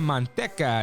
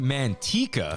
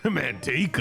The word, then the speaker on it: Manteca: uh Emiliano right it's in the city of monteca is actually pronounced Manteca Manteca all right I do think lard is a